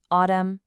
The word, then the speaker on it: autumn: Now, on the right, if M is followed by N, the N goes silent. Autumn, damn.